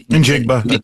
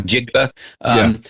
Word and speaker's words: Njigba: But I think in reference to the wide receiver from Seattle, I it's funny, I can't pronounce his last name. Njigba. Yeah. Njigba.